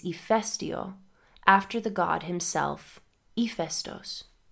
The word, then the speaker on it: Ήφαιστος: Stories about Hephaestus, pronounced Hephaestos in Greek, emphasize his ugliness and the fact that he walked with a limp.